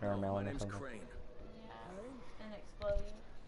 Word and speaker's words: Crane: My name's Crane. Yeah. Crane? And explode. Crane rhymes with train and brave and sane.